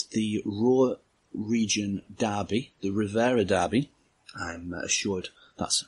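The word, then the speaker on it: Revierderby: It's the Ruhr region derby, the Rivera derby. I'm assured that's how it's pronounced.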